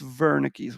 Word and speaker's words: Wernicke's: temporal lobe you have wernicke's region and i know it's spelled wernicke's with a w but it's wernicke's region and wernicke's region helps